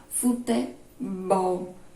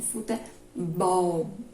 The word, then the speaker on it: futebol: Exemplo de oxítona, futebol. A sílaba tônica é a última, mais forte. Futebol, bol, é a mais forte.